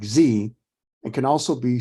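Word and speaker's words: ze: hear food because Z was hungry Z is pronounced like Z and can also be spelled z-i-e or XE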